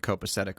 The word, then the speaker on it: copacetic: And then the hard C again. Yeah. It's a soft C sandwich.